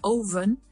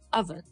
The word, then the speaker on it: oven: oven, y no es oven, es oven, oven. ¿Por qué dice oven? Porque la O en inglés es un O. And so we feel like we have to pronounce the full letter oven, but we don't have to.